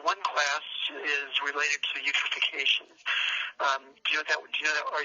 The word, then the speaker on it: eutrophication: They're all chemical based, but the one class is related to eutrophication.